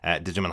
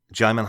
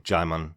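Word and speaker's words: Djimon: h just to confirm jimon hanso pronounces his name jimon just like Simon the D is silent so both of us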